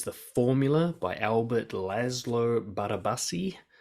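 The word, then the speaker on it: Barabási: Next one, number 8, is The Formula by Albert Laszlo Barabasi. That's almost certainly not how you pronounce his name because he's Polish, but that's close.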